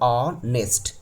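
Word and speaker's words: honest: यहां पे देखिए एच ओ एन इ एस टी। इसको पढ़ते हैं ऑनेस्ट। तो ऑनेस्ट का पहला लेटर आ गया। तो क्या लगा देंगे?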